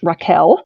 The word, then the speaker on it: Rachel: is Rachel wild um she would tell you her name is pronounced Raquel but spelled Rachel um she given a